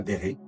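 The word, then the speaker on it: Bérée: Alors ça ne s'écrit pas comme un béret, mais ça s'écrit B-E-R-E-E, la ville de Béret.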